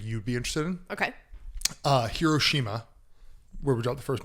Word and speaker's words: Hiroshima: Hiroshima, 2 days before the bomb was dropped, I guess there's a big clock in the middle of Hiroshima, or Hiroshima, as it's actually pronounced.